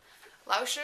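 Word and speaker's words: 老师: have chinese intermediate chinese with pai lao shu lao shi is how you say teacher in chinese and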